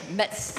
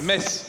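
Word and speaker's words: Metz: Mets and he wanted Mets mes mess you don't pronounce a t mes no no T no it's like a big mess and so he has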